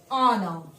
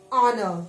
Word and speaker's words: honor: Okay, the word honor. Okay, remember children? We pronounce it as honor, not honor. H is silent.